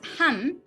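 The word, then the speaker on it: 半: plus half plus half say half means ham oh wait wait somebody came in right oh er right half is ham in japanese so we say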